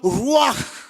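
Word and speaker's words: רוּחַ: Le souffle est appelé ruach en hébreu. Quand tu prononces ruach, tu prononces le H.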